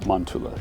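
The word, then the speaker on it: Mäntylä: so we're at monela I say it right manula yeah manula manula yep finish for of the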